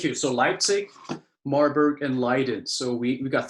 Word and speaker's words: Leiden: Exactly, Leiden. So thank you. So Leipzig, Marburg, and Leiden.